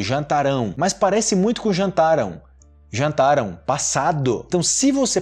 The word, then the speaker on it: jantaram: Mas só para constar que a pronúncia desse jantarão no futuro é diferente de jantaram, ok? Jantaram, jantarão, futuro. Jantaram, jantarão. Jantaram, jantarão.